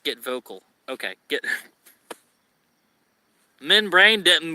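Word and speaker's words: Get Vokl: Okay, it's pronounced Get Vocal.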